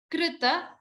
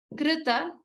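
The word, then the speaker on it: कृत: Krita. Pronounce this as Kr. ka plus r in rishi, not kri or kru. Krita, kankanam.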